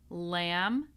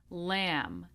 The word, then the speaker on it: lamb: This is the silent B. So we do not pronounce the B in any of these words. We have climb, numb, womb, comb, lamb, debt, doubt, subtle.